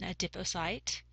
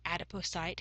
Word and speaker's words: adipocyte: The term for a fat cell is an adipocyte or adipocyte, however you want to pronounce that is fine with me.